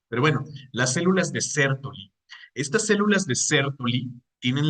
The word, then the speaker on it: Sertoli: sertoli Sí o sea por la la pronunciación debería llevar una tild aquí creo que es de denominación francesa Pero bueno las células de ceroli estas células de ceroli